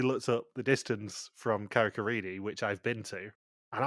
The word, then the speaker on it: Carrick-a-Rede: They do actually say it correctly, which is very rare in Vidum with anything sort of English language, but yeah, it's Carrick-a-Rede.